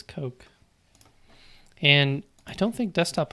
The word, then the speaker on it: Koch: something to bed here how do you pronounce Koch okay och a lot of people are like is it caulk is it coke is a cosh I said god it says coke and I don't think